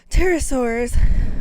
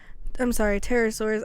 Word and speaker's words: pterosaur: of the wings on the pterodactyl and other pterosaurs were made up of skin and muscle membranes